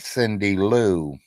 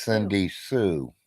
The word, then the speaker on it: Cindy Sue: say it wrong yeah she thought I said Cindy Lou it's Cindy Sue that'll work too because